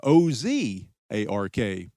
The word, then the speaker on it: Ozark: side of the river, they adopted the French pronunciation but put an English spin on the spelling. The British post thus became O-Z-A-R-K, Ozark, and that is, of course, the spelling that survives to this day.